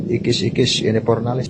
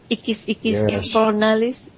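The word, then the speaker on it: Ixis Ixis Inipornalis: the supreme council of Ikis Ikis Inipornalis. And that is spelled as IXIS, IXIS, INIPORNALIS. Ikis Ikis Inipornalis. Yes, correct.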